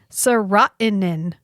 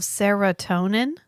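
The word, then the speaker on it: serotonin: of medications and serin yeah this feels like an oversight on training the actor on the pronunciation of seratonin did nobody stop him and go listen I'm sorry but we're GNA we're going to go ahead and stop you there but that's seratonin he just goes serin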